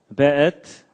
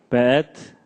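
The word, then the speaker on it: וְאֵת: 그 다음에 에트, 하샤마임, 베에트. 요게 이제 W인데도 여기에 독일식 발음을 해서 베 이렇게 읽는다고 합니다.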